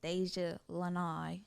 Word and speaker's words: Daijhalanai: say it like this did you say deja lanai yes deja lanai so i'd like